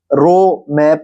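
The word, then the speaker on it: ρ: तो इसको रो मैं प्रोनाउंस करूंगा।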